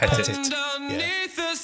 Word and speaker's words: Pettit: George Pettit. That's how you say it. Pettit.